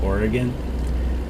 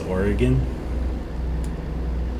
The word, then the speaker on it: Oregon: the pacific northwest we all know that it's pronounced oregon like oregonians will tell you that it's oregon but i would get a lot of people